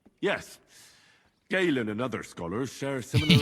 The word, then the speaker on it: Galen: Gallon, you say? Yes. Galen and other scholars share similar He corrected the pronunciation.